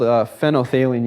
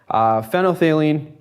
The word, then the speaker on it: phenolphthalein: phenolphthalein with me, because when you see it written, there's like a PH, ENO, PH, HALEIN. It's kind of a really weird word. And when students first say it, they never say it right. So for all I know, I could be saying it wrong, but phenolphthalein is what it's called.